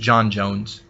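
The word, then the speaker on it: J'onn J'onzz: So sometimes it's said Jean, but it's just John Jones.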